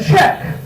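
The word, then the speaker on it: Czech: Or my personal favorite, Bouncing the Check, in which check is spelled C Z E C H cuz it's actually about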